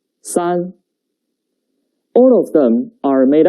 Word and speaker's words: 三: The pronunciation is 三. 跟我读. 三.